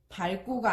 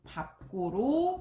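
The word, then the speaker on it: 밟고: 겹받침 리을, 비읍이 대부분 리을로 소리 난다고 했었는데 밥다 같은 경우에는 비읍으로 소리 나게 돼요. 그래서 밥은 자음 앞에서 밥으로 발음합니다. 즉 리을, 비읍 중에 비읍으로 발음이 돼요. 그래서 발고가 아니라 밥고로 발음하는 거죠.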